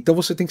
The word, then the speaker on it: Wagener: legal e tinha uma entrevista muito legal com Michael wagener Michael wagener e wagener se escreve Wagner com um e após o g